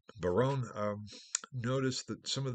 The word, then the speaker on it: Baron: century their own or Baron b-a-r-o-n uh I don't want to confuse you by the pronunciation but Barone um notice that some